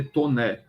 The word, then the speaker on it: Taunay: Visconde de tô né o nome dele é estranho se escreve Taunay com y do fim t a u n a y mas se lê tô né ela era de a